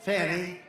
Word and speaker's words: Fani: You had Fani, F-A-N-I, which is usually pronounced Fanny.